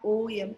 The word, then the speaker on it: Om: A-U-M-A. This is a correct pronunciation of Om. Not O-M, Om.